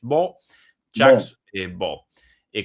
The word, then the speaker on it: Baud: Sí, es escrito Baud, pero pronunciado aparentemente en francés B. B con unos excelentes análisis